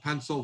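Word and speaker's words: Pensole: time um we're collaborating with an outfit called pencil footwear design academy out of portland oregon it's spelled p-e-n-s-o-l-e and they're going to be starting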